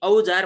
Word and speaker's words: औजार: जस्तै औजार भन्नु पर्यो भने एउटा उदाहरण मैले यहाँ लेखेर पनि तपाईँलाई देखाउँछु। लेख्दाखेरि हामीले औजार यसरी लेख्छौँ, भन्दाखेरि कसरी भन्छौँ? यसरी। अब यो औजारलाई हामीले यसरी उच्चारण गर्छौँ। त्यसकारणले गर्दाखेरि यो औको ठाउँमा यो अ र उले काम चलेको छ।